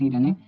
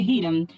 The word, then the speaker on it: Hiram: Y este le envía un sacerdote y arquitecto llamado Hiram, con H, no como las normas Hiram, sino Hiram o Hiram, como lo pronunciaban ellos.